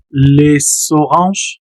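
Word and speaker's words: les oranges: Les orange, ya vieron ahí pronunció las naranjas. Les orange pegó la s con la siguiente o.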